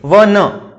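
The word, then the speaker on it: one: यहाँ पे ध्वनि देखेंगे अपन, बोल के देखो, इसको प्रोनाउंस करना है, ठीक है। वन, वन, ये बोल के देख रहे हैं तो वन, और वह क्या है, व्यंजन है, क से ज्ञ तक व्यंजन होता है, आपको पता है हिंदी वर्णमाला में।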